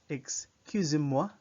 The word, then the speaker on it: excusez-moi: So you say, this is the word, excusez-moi, excusez-moi. Notice that in English, excuse, you'd pronounce it as if there's a G in the X, excuse, but in the French, it's purely X sound.